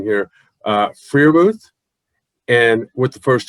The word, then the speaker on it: Freiermuth: Pat, correct me if I'm wrong in the pronunciation here, Freiermuth, and with the first 2 picks. Yep. Freiermuth, okay.